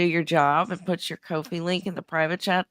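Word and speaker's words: Ko-fi: Also, it's pronounced Kofi.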